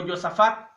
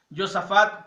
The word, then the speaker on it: Josafat: rey de Israel y con Josafat o Josafat, de acuerdo a nuestra pronunciación latina, Josafat como rey de Judá, y nos presenta la historia de un gran profeta, Elías.